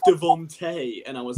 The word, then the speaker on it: DeVonta: Yeah, it's the one name I can actually pronounce correctly, this one. Whereas even like I say Devonta Smith, and someone DM'd me who's like, it's Devontae, and I was like, it says Devonta.